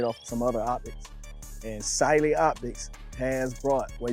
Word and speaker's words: Cyelee: And Sily Optics has brought, well, you can say Sil, whichever way you want to pronounce it, but I do think it is Celely.